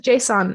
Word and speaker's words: JSON: to our empty json i really hope it's pronounced json but i'm pretty sure it's not jason but json i think it's json don't add me all